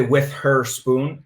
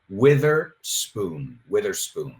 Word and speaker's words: Witherspoon: No se dice with her spoon, la pronunciación de su apellido es Witherspoon, right?